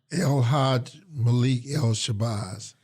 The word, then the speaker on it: El-Hajj Malik El-Shabazz: El-Hajj Malik El-Shabazz.